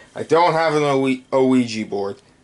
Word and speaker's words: Ouija: desk before okay i don't have an only oegy board ouija board no i said it right the first